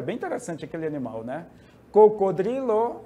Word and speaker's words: cocodrilo: interessante aquele animal né cocodrilo é o crocodilo na língua portuguesa nós falamos cro né E lá é o Dri o r vai depois do d observem bem cebra começa